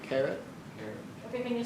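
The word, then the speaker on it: caret: Carrot. Carrot. Carrot. Okay. Can you spell that?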